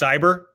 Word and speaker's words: CY8ER: Yeah, Nate, how do you say the group that we're gonna see in Japan? Cyber. It's just Cyber? CY8ER, but it's Cyber, yeah.